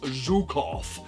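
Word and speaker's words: Zhukov: Now, at this point, Millsur guy is going to say, "Actually, it's pronounced Zukov."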